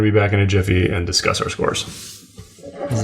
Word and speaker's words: GIF: There's people who legitimately believe it's GIF. It's Jif. It's GIF. Just like how it's Houston. It's like Linux. Exactly. When the guy who designs it says how it's pronounced, that's how it's pronounced.